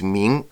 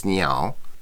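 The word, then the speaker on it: 鸣: Okay, the next word we have here is ming, which means to cry when speaking about a bird. And the student reads it as niao.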